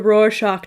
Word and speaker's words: Rorschach: read online and said it was like roar like a lion and then shock like a shock wave so got it the roar shock test probably one of